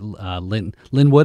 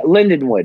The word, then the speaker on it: Lindenwood: And you have that education background at Linwood. Did I say it right? Yeah, Lindenwood.